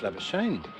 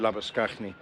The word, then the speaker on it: Labuschagne: I call him Labuschagne. But no, that was Marnus. Really, really good diving stop. That's how his name's pronounced in Afrikaans, isn't it?